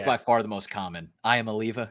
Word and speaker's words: Iamaleava: Iamaleava, because that's how you would sound it out if you were just going syllables at a time.